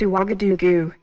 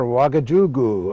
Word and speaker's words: Ouagadougou: I hope I can pronounce this right. It's Ouagadougou. Right you are, Ouagadougou.